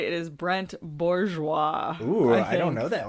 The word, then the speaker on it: Bourgeois: Let me make sure I'm pronouncing this man's name right. It is Brent Bourgeois.